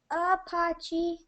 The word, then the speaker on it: Apache: New Mexico and Arizona the name Apachi is pronounced Apachi and means fighting men fighting men or enemy